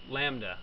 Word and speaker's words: lambda: is a real number Lambda so then this is a Greek letter that you may not be accustomed to writing it pronounced Lambda such that the gradient